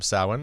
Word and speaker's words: Samhain: actually pronounced Samhain. Yep. Samhain.